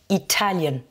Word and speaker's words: Italian: Italie, Italy, Italian. Donc là, première syllabe pour le pays, Italian, deuxième syllabe.